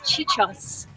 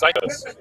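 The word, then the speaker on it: Ciacosz: But as someone with Italian heritage, I read his name as Chichos. Chichos. It's spelled C-I-A-C-O-S-Z, and it's pronounced Psychos. That's a true story. It just gets me. It sounds like Psycho.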